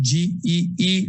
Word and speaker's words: Gee: Public Defender Gee, the spelling is G-E-E, and I pronounce it Gee, has been assigned to